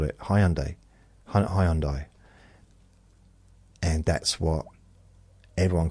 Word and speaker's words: Hyundai: the showroom and said no it's not highend highend it's a it's like what it's a huh like so we need to